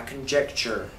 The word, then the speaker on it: conjecture: That is my conjecture. Conjecture rhymes with smooth mixture.